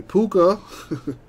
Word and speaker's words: Puka: kind of deal anyway puka uh rhymes with hookah he goes to the